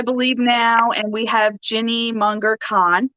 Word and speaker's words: Ginny Munger Kahn: All right, so this is episode 6, I believe now, and we have Ginny Munger Kahn, right? Is that how you pronounce it?